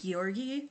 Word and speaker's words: Georgi: Igor's good friend Zina, his friend Georgi, who can also be pronounced as Yuri, but there's also 2 other Yuris in this story.